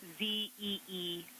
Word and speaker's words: Zeeman: I may be pronouncing that wrong. What's the first letter of that word? Zulu. It's Zeeman.